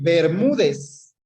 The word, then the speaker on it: Bermúdez: Sí, Bermúdez. Polisílaba, Ber mú dez. Se acentúa, tiene el mayor acento de voz en la penúltima sílaba, termina en Z, es decir, en cualquier consonante, por lo tanto, se tilda.